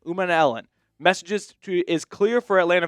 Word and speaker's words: Umanmielen: wrong, but it's Princely Umanmielen. It's like Ellen DeGeneres kind of at the end. Umanmielen.